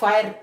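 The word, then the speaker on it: fire: रहती जैसे हमारे पास फायर एफ आई आर ई फायर means आग यहां पे लफ्स ई लिख तो सकते हैं पर वी कैन not pronounce it यहां प ई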